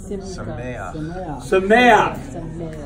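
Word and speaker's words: שָׂמֵחַ: If you have a word and it ends in a het, and under the het is a patak. It's pronounced a certain way.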